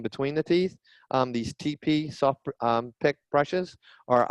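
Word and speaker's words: TePe: Uh, one brand is called TP. It's spelled T E P.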